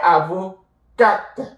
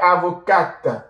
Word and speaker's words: avocate: Elle est avocate. You add your E and then you will pronounce the T. Elle est avocate, ok?